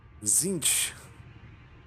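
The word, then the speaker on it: Tzeentch: and then you got zinch who's the the trickster uh you can tell by having a silent t in his name he's a tricky one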